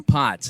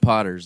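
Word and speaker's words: Potts: Uh just a word of uh I think Jabbo you you uh talked about Makaker's Mark Denny Pots. It's not Potters, it's Pots.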